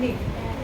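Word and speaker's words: knit: के साथ दिखाते हैं नीट उसको बोलते हैं नीट मैं क्या बोली मैं कैसे बोली ट तो क्या आएगा स्पेलिंग ट के एन आईटी के एन आईटी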